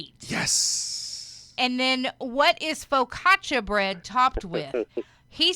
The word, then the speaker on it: focaccia: But you got sourdough and wheat, and I focaccia is what I had to see how they pronounced.